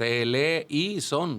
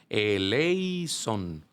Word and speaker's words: eleison: A veces decimos eleison, como si fueran 4 sílabas. Y no, Ajá. es eleison.